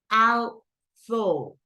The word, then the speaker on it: although: Although. And we have the stress in, I'm sorry, we have the stress in the second syllable.